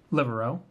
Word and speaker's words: Libero: So we got 2 copies of Absolute Blade Knight Libero.